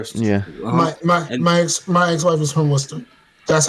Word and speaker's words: Worcester: Oh yeah, it's like Worcestershire, but it's like it's Worcester. Yeah. My ex-wife is from Worcester.